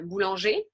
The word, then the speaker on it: boulanger: So there are a few other exceptions of words that we would also pronounce in a similar way of E and not ER, comme un boulanger, un boucher, a butcher, un cahier, le premier, the first.